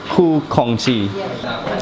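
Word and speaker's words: Khoo Kongsi: Ku Kongxi.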